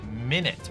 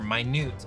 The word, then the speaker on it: Minute: Minute, or minute, I believe, is the way that this is pronounced.